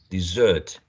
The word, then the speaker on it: dessert: Dessert, dessert, dessert, dessert. Okay. There's some word which is which is spelled quite similar. Desert, right? Desert. So you need to be careful about this one.